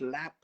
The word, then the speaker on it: larb: do you know what larb is yes is fat no not lard lar lar no what what's alarm idiot it's actually pronounced lap uh in loation okay